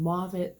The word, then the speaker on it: Mauve It: mob it and plummet and move it spelled like the color mauve it and plum it like